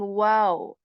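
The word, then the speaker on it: و: with letter wow so we are going to shape our lips in a round position when saying wow wow okay this is pronounced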